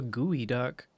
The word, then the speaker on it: geoduck: It's actually pronounced gooey.